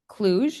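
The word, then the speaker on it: Cluj: summer school on violence and injury prevention in clug is that how you say it clug yes Romania could you describe what that was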